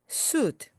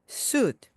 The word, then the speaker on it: suit: 정장은 suit, suit, suit 하지 마시고요. 받침으로 가듯이 suit, suit으로 발음해 주시기 바랍니다.